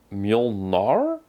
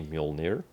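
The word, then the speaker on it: Mjölnir: And this is where they call it Molnar or that's how they pronounce it, but it's supposed to be Mujolnir. Well, we don't know that. Maybe it's both is correct.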